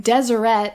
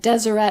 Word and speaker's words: Deseret: were writing in desire I have been saying deset and Deseret alphabet throughout this video it is the way people say that word today but they didn't say